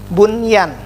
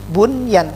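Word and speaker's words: بنيان: Seperti lagi bunyan, ini salah. Yang betul bunyan, karena dalam satu kata walaupun nun mati ketemu dengan huruf ya lagi, ya.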